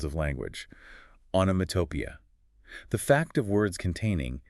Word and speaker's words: onomatopoeia: This 5-syllable word is daunting, I'll admit. The rule of thumb is to break it down and stress the 4th syllable.